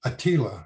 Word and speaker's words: Attila: By the time Attila, it was about 80 years before Attila, rather correct pronunciation, Attila the Hun led his armies all